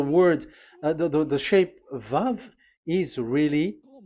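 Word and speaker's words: ו: So don't change it into W.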